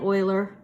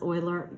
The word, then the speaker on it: Euler: logic and some euler you say it euler that's pronounced euler euler euler diagrams it's from unity everyone